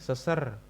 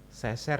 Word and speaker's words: seser: Seser, yaitu gerakan kaki yang bergeser ke arah kanan dan kiri. Seser ya bacanya anak-anak, bukan seser.